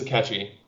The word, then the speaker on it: Akechi: Oh, well, I mean, spoilers, but Akechi. If you don't count Akechi. I'm saying his name right? It is Akechi.